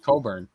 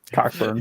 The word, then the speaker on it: Cockburn: What's his last name? I don't want to say it wrong. Coburn. That's not how Noah was going to say it. Yeah. Cockburn. Yeah, because he was going to say it the wrong way.